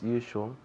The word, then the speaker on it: usual: As usual. Good. Very good. As usual. As usual. Aquí la pronunciación usual. You, como cuando decimos tú, you empieza con ese sonido.